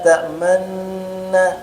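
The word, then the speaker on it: تأمنّا: Bukan begini bacanya. Maaka lana itu salah. Yang benar bacanya agak maju dikit bibirnya. Maaka tamanna. Ah gitu. Maju dikit.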